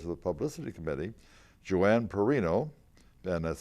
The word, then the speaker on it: Perrino: The Publicity Committee, the co-chairs of the Publicity Committee, Johanna Perrino, and that's spelled P-E-R-R-I-N-O because I'm Carrino, C-A-R-R-I-N-O.